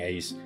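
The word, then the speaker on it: Aesc: I don't care how it's pronounced, I'm saying Ace. Yeah, I know it's pronounced like Ash, but that's stupid, and that's lame.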